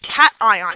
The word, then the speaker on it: cation: We have a name for that, and that's not pronounced cation. It is pronounced cation because we want to keep the ion there.